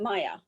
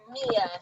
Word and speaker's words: Mia: Okay, so next I see Mia, or is it Maya Shoemaker? Maya? It's Mia Shoemaker.